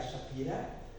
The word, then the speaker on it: Shapiro: professor Ilya Shapiro, né, como dizem os russos, Ilya Shapira, né, o professor Ilya Shapira, né, porque em russo o O, quando não é na sílaba tônica, ele se pronuncia como A. Então, Ilya Shapira, porque o Pi, né, o I é que é a sílaba tônica, o Pi. Então, se em português a letra Shapiro, né, mas em russo é Shapira.